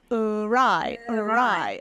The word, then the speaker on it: awry: English that's not you so it's AR almost like arrive he was late to the party he didn't arrive until